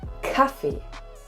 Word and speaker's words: Kaffee: C as a letter, it is mostly pronounced as K, like Kaffee. D.